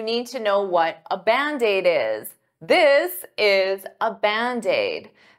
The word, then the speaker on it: Band-Aid: is 2 words, but to pronounce them like one, I'll take that D and transfer it to the vowel.